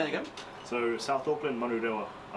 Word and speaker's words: Manurewa: Yeah, so we're both from South Auckland, Manurewa. That's how you say it. Say it again. So South Auckland, Manurewa.